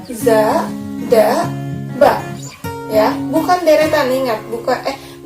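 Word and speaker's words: ざ: Za.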